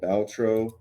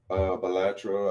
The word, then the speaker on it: Balatro: Another game is called Baltro. It's an indie game. Yeah. It's a roguelike. Balatro, I think that's how you say it.